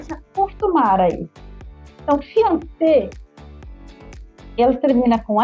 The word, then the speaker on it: fiancé: E eu sempre imaginei que um é masculino e outro é feminino, e sendo que a pronúncia é igual para os dois. Como que é isso? En français, fiancé.